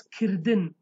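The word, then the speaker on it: kirdin: little bit close but incredibly pronounce it as killed in killed in means to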